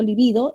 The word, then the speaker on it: líbido: diferentes tengamos cuidado ya no sé si es libido libido menos mal que nos ayuda también la escritura y la pronunciación también los individuos esdrújulas y digo libido es grave y son palabras diferentes